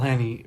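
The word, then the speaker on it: McElhenney: McElhaney?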